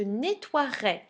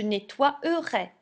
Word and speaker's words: nettoierai: nettoyer ça va je nettoierai alors regardez bien l'orthographe ici j'ai remplacé le y par le i d'accord mais à l'oral je ne dirais pas je nettoiererai je dirais je nettoierai